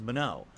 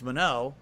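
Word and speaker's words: Manon: That's how you pronounce her name. That's how the game says it. It says Mano. So now I know it's Mano.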